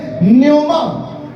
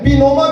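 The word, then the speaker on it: pneuma: हम एक लफ्ज सीखेंगे न्योमा पी एन ई यू एम एन पीनोमा भी कहते हैं लेकिन पी साइलेंट है नोमा कहेंगे हम इसको मतलब इलाही रूह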